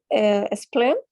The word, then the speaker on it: spleen: Spleen? No, spleen. Like a smile. Spleen. Yeah, with E.